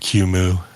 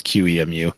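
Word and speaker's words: QEMU: into their Paradigm so am I pronouncing it wrong is it cumu I've heard it called everything like K and quu and Q I always always say out the words q muu but that's just me yeah I always say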